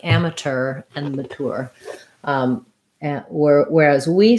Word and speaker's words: amateur: and mature um so amateur amateur um in american english we say amateur and mature very in a very similar way in um just a